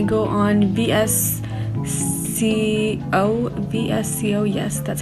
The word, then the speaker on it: VSCO: picture and I go on vs see Oh vsco yes that's how you pronounce it and I just basically make it